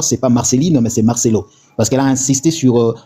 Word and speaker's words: Marcelo: Alors dire déjà Marcelline, ce n'est plus Marcelo. Donc il faut bien prononcer le nom du pasteur. Son nom c'est Marcelo.